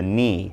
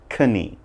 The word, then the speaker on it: knee: leg bends that's the knee again not kane' remember that now kneel very similar